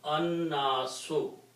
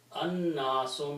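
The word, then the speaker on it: النَّاسُ: And when you pronounce, then noon being a shamsi letter will kill the sound of lam, and it will be pronounced with a shadda, so it will become annasu. Annasu means the pupil.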